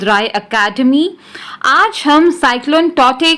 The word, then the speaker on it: Tauktae: First thing, cyclone टॉटे, इसका pronunciation जो है वो टॉटे होता है, के साइलेंट होता है, राइट।